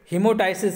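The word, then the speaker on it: hemoptysis: ये लिखा है हीमोटेप्स, हीमोटाइसिस लिखा है, यहाँ पर इंग्लिश में देख लें, ये पी साइलेंट है, यहाँ पर हीमोटाइसिस पढ़ा जाएगा, इसे हीमोटाइलेसिस पढ़ा जाएगा।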